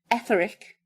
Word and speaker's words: Etheric: In his book, On the Edge of the Etheric, have I pronounced that right? Etheric is right, yeah.